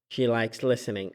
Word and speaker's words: listening: She likes listening. أبدا تجيب الING لا تلفظه. هذا الصوت هو إنج، لا إن ولا إنج. هذا صوت وسطي بالنص.